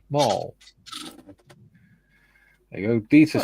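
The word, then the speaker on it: Mol: And the research facility in Mall. Pronounced as Mall.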